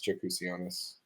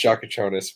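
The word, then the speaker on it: Jakučionis: I'm taking Kasparas Jakusianis. I know that's not how you say it, but that's how I want to say it every time. I know it's Shakachonis, but I might take Kasparas there.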